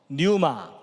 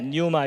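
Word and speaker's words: πνεῦμα: 호는 네페시 그 다음에 영은 히브리어로 헬라어로 뉴마 분유 말하고 발음하는 분들도 있긴 하지만이 피가 묵음이기 때문에 뉴마 이렇게 발음하고요 그 다음에 혼은 푸시케입니다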